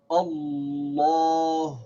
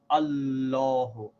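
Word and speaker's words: الله: and the long pal so we say again Allah who now we have to make sure that we pronounce this in a certain way when we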